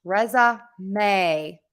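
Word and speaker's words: résumé: you need for work resume is pronounced Reza May resume and you need that word stress um to be different than in the word resume so we have resume resume resume resume and I am going to put the video Lesson that I have on that in the chat so again we have resume and that has three syllables or three beats and resume that has two syllables or two beats so resume resume resume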